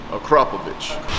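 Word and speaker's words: Akrapovič: what we have here is, what's the proper way to pronounce it? Akrapovic.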